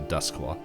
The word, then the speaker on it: Doskvol: Exotic and rare to dusk law I just saw that spelled completely different but that's how you pronounce it uh the citizens that